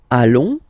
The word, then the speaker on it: allons: Then, nous, so we, plural form, nous allons, okay? And if you, so final S not pronounced, and then if you